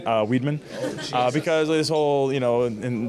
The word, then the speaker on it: Weidman: Weidman's not that hard. Weidman. Like a wide man.